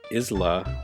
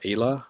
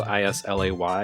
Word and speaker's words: Islay: It is a gin produced on Isla, I think is how it's pronounced, or Ayla. I can't remember. It's Scottish, so it's spelled I-S-L-A-Y. You'd think Islay, but no, it's Scottish.